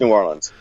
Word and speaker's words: New Orleans: out of your mouth New Orleans yeah just New Orleans yeah I think I think when you know